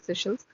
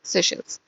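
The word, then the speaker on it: Seychelles: सब लोग इसको अलग अलग प्रोनाउंस करते हैं, आई डोंट नो, मुझे यही अच्छा लगता है, सो आई प्रोनाउंस सेशल्स।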